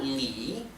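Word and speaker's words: 李: nombres de frutas y se pronuncia Li le con el tono que baja y sube que es el llamado el tercer tono le le también es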